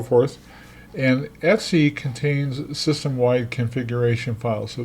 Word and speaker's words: etc: folder is super important it's called Etsy it stands for ETC means and so forth and Etsy contains systemwide configuration files